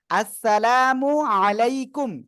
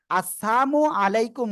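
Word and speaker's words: السلام عليكم: আর যদি আমরা উচ্চারণটা ভুল করে আসসালামু আলাইকুম বলি তাহলে কি কামনা করা হয় জানেন? আপনার মৃত্যু হোক, আস্তাগফিরুল্লাহ।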